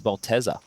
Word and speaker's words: Maltesers: Maltesers, the teaser part, is spelled with no A. It says Malteser, Yeah. but we say Malteser.